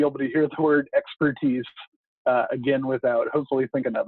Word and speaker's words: ExPürtise: yourselves with that and we say it just like the word expertise but with a peer in the middle it's actually